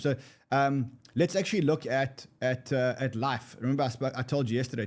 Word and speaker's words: LIF3: So let's actually look at Life. Remember I told you yesterday to look at Harry's token, which is LIF. You actually spell it LIF3, but it's Life.